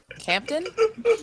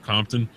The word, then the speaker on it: Compton: Campton? Yeah, because at one point he has Jeff. Has you ever heard of Compton?